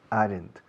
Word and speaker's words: aren't: No decimos en inglés aren't. Decimos aren't, aren't, aren't, aren't.